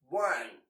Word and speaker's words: one: words don't forget that the word one sounds as if it has a w in the beginning that's also how the